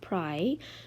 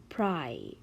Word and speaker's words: pry: So when we have in some words Y at the end of the words, you pronounce it as a long vowel sound, which is long I. So it's pry.